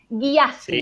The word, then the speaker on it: Gyasi: Es Ya, se escribe Y-A-A, Gyasi, sí. G-Y-A-S-I, y latina.